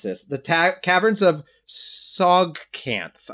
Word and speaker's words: Tsojcanth: The caverns of Sogcanth. I'm gonna say Sogcanth. It's literally TSOJCANTH.